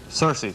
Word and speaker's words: Circe: by what cruel sorceress whose name ironically rhymes with mercy Circe right shame of the